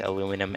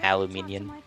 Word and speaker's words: aluminium: gonna get my ohio the british pronounced aluminum aluminium yeah we know what